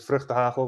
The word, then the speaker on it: vrugtehagel: My internet name is vrugtehagel, which is a bit hard to say for most people. So think of me as Hagel if you want to pronounce it.